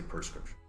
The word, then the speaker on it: prescription: swallowed by them so I say prescription but don't think of it as P er just think of it as you know are sort of absorbing the surrounding sounds yes so prescription the first prescription yeah either way is fine I mean no one's gonna say it so long but most people say perscription okay awesome the next we